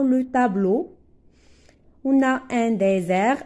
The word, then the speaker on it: désert: Z c'est comme un désert regardez s entre deux voyelles entre deux voyelles ça se prononce Z rappelez-vous très bien cette